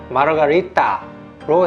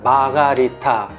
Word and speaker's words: Margarita: 마르가리타 칵테일은 멕시코와 연관된 것을 만들어졌기 때문에 스페인 발음으로 마르가리따로 해야 맞고, 심지어 영어도 마르가리다인데 유독 한국에서만 마가리타 혹은 마르가리타로 발음 및 표기를 해서 좀 잘못된 표현이고, 제 생각에는 마르가리따가 맞는 것 같습니다.